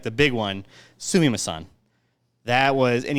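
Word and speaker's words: すみません: But the one, like the big one, sumimasen. That was, and you gotta say it like a little like sumimasen. You almost have to have like a little like a feminine tone to the whole thing, just because it's just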